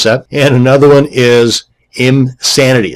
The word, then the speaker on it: Imsanity: And another one is Imsanity. That's I-M Sanity, not Insanity.